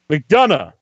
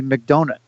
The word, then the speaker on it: McDonough: Hey guys, this is I'm McDonough. McDonough. And right. You know what? I love mispronunciations. Back in like fifth grade, yeah. I was in CCD, and my CCD substitute, which is an interesting dynamic, called me McDonut.